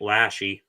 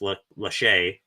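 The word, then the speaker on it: Lachey: People have been pronouncing it Lashy, but I think it's Lache.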